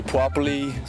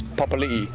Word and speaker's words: Papali'i: Some people say Puapali, Pepalai, Pepali, Paipaili. I get a lot of weird ones, but it's Papali'i.